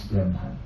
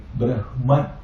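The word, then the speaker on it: ब्रह्म: But in the Vedic pronunciation, when H comes before and M later, that will be reversed.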